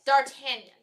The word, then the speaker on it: D'Artagnan: D'Artagnan, yes.